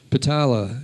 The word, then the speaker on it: Pitala: The next one is for Edward Pitala, and he is alive. Is Patricia here or Edward? P-I-T-A-L-A. So Edward J. I think you pronounce it Pitala.